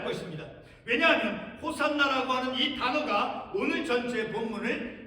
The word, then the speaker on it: 호산나: 그 간청 구원하소서 자 헬라식 발음으로 호산나 아고 우리가 부르는 것이죠 자 호산나 하는 그